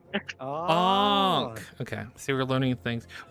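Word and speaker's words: ankh: This is a Ank. Did I say it right yet? Onk. Onk. Is that how you say it, Billy? Yeah, like a ong. Onk.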